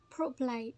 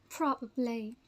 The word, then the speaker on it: probably: next one probably probably but most people most people don't pronounce the second syllable to say as properly prop but it's not the right way the right way to say is probably probably probably probably practice